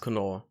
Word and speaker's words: Knorr: Is it Knorr or Knorr, David? It's definitely Knorr.